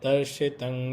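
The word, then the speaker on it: दर्शितं: Tatpadam Darshitam, no, Darshitang Yena. Shitam is short vowel.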